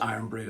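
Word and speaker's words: Irn-Bru: Iron Brew cuz it's not actually um the brand which is N brew which is pronounced Iron Brew actually, but it's I N is the drink.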